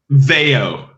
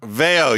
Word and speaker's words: Veio: How do you pronounce the name of the band? Veio. Veio, Right.